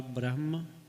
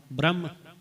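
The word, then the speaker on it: ਬ੍ਰਹਮ: है पर कई वार असी अनजाने दे विच न ब्रहम उच्चारण कर दे हैं ब्रहम करते ना ब्रहम ब्रहम नहीं है कोई मात्रा नहीं लगी हुई सिधा ब्रहम पैर दे विच रारा है ते पार ब्रहम विनी पारब्रह्म ब्रम न ब्रहम नहीं उच्चारण कर पावे इकला ब्रह्म आए ब्रम आए जा ज है व पार ब्रम आए न इस तरह ब्रहम उच्चारण करके नहीं करना है बहुत वार पावन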